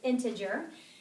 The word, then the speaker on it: integer: in just a second lastly we have integer that's commonly mispronounced so it's integer and these are all